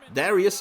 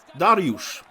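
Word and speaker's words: Dariusz: willy beer captain and darius in that but uh pronounced correctly is daryush of the legends of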